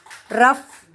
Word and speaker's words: rough: Rough, the sound is uff.